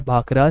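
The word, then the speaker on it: भाखड़ा: है वो भांगड़ा है, और जो भांगड़ा है उसका प्रोनाउंसिएशन लगभग सिमिलर है भाखरा से।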